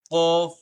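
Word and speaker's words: ك: আবারও পড়ি আমরা: বা, জিম, খ, সদ, মিম, হা, কাফ, শিন, আইন, লাম, বা, গাইন, কাফ, কফ, সিন, হা, তা, মিম। আবার কাফ, কফ, সিন, হা, তা, মিম। প্রত্যেকটা হরফ সঠিকভাবে সুন্দরভাবে তার মাখরাজ থেকে উচ্চারণ করতে হবে, তাহলে পড়াটা সহি হবে।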